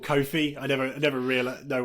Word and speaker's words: Ko-fi: in like confidential low-fi you say low five but you don't say kowhai yeah that's that's why i make that kind of connection thinking oh is it pronounced ko-fi but uh yeah it's uh